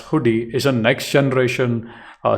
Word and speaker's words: Hudi: as you know Apache hoodi uh pronounced as hoodi is a Next Generation